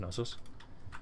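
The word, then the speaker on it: Knossos: We should ramp it's pronounced no uh pronounced nosus that is it nosus.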